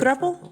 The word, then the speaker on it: throuple: Is it throuple or throuple? I call it throuple because it rhymes with couple.